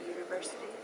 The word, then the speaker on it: university: vowel right but um actually it's more like the y sound like i'm talking to u y o u so maybe you could put them in that way wow so it would be a university oh i see so